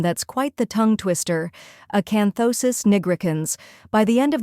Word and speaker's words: acanthosis: the correct pronunciation is acanthosis gons first part Aon like a as an apple then con second part thosis say it as though like in though and sis softly third part NY rhymes